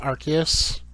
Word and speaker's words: Arceus: uh by the way i know it's technically pronounced arceus uh because the whole arse thing um but i say rcs simple as that uh let's see so i've